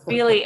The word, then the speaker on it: Feheley: And it's Feheley is spelled, it's not like touchy-feely as I call her, but it's Feheley, Feheley, if you're looking it up.